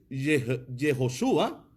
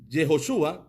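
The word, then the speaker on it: Yehoshua: el que nosotros conocemos pero en el arameo es yehoshúa yehoshúa entonces como le llamaban sus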